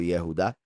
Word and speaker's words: Yehudá: Recuerden que Judas, su nombre original habría sido Yahudá, solo que lo más seguro no lo pronunciaban Yahú por no pronunciar Yahweh, entonces por eso siempre le digo Yehudá y también porque no merece que se diga Yahú.